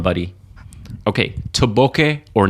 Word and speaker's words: bokeh: He must have been fed up with like, hey, this bokeh looks great. I'm so boke. So he basically went through a lesson. It's bokeh, Keh, bokeh.